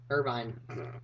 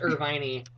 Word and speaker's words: Irvine: long hair Irvine no no you say Irving California no Irvine Irvine never mind just kidding it's pronounced irviney um Jesus Christ my second